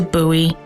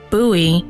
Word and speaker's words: Bowie: Story two takes us to Bowie, Maryland. That's Bowie, not Bowie. You're not naming a dog.